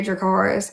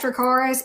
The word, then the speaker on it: Dracarys: it's like people ask me all the time to say Dracarys, and then people are like, "Why don't you roll your R?" Because Daenerys says it in the common tongue all but once. One time she Absolutely. rolls the R.